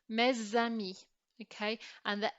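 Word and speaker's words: mes amis: this example we are not going to make this S sound silent because the following word starts with a vowel and if the next word starts with a vowel this dipsticks letter here becomes pronounced so what we're going to do to illustrate this is we're going to draw an arrow linking them together so this becomes mez Sammy okay and the s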